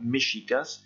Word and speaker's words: mexicas: Vous savez que les Aztèques sont appelés également mexicas, avec cette prononciation très particulière et propre du Mexique du X. Et ce sont ces Aztèques, ces Mexicas, qui ont donné le nom au pays actuel qui est Mexico. Toujours avec cette prononciation très particulière du X qu'on a vu en